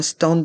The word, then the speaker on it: stand: une fleur prononçons un stand de fromage un stand de fr mage le mot stand est un mot anglais mais on le prononce à la française le a et le